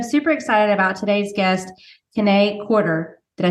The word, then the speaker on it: Kiné Corder: and so I'm super excited about today's guest K quarter did I say it right yes I was